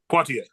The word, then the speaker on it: Poitier: Poitier, Okay, so yeah, you.